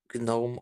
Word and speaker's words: GNOME: So the things that you're saying are the garden gnomes are pronounced gnomes. GNOME started off as an abbreviation, so that's why it's GNOME.